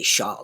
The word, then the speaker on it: Charles: same same in French so you hear me say Char that is the French pronunciation but it is also